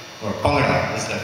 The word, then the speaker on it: Bhangra: It's called Bhangra. Or Bhangra is the correct pronunciation, B-H-A-N-G-R-A.